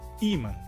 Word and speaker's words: ímã: A diferença então seria que em espanhol a sílaba mais forte seria man, onde também temos um acento na letra A. E em português temos um acento na letra I. Então, nesse caso, a sílaba mais forte seria a primeira, ímã.